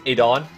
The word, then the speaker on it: Aidon: You know, it's not Aiden, but it's Aidon.